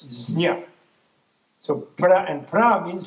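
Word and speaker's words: ज्ञ: In Sanskrit, which is a sort of primal Indo-European language, it's gnya, jnya, it's a J, it's even hard to pronounce, jnya.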